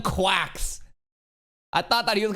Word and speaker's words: GQuuuuuuX: So, that's how they pronounce it. Gundam Quacks.